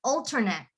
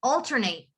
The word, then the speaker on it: alternate: So if you have, if a word is ending with the word 8 and it's a noun, you would say it as et. You don't pronounce the E. But if it's a verb, you pronounce it as 8. So for example, the word alternate, if it's a noun, you would say alternate.